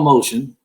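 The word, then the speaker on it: Motian: of the past century, a drummer named Paul Motion. Last name is spelled Motin.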